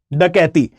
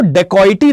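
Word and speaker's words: dacoity: अच्छा, इसको डेकॉइटी नहीं पढ़ते हैं, ये इंग्लिश में लिखा जाता है डकॉइटी जैसा, लेकिन ये है एक हिंदी वर्ड जिसको हम प्रोनाउंस करते हैं डकैती ही, ठीक है। इसको हम डकैती कहते हैं, डकॉइटी नहीं कहते, ओके। द प्रोनाउंसिएशन रिमेन्स डकैती, ये एक हिंदी वर्ड ही है।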